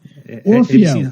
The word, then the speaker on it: Orfeo: I think I said his name wrong. It's all right. Have another drink, you'll remember. Orfeo.